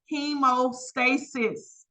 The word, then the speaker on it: hemostasis: It's pronounced hemostasis.